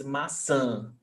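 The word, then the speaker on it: maçã: there is a chill it's very close it's a nasal it's a nasal vowel sound so it's masa i love when you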